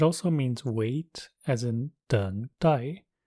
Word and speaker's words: 等待: It also means wait, as in 等待, in which case it is pronounced with the fourth tone.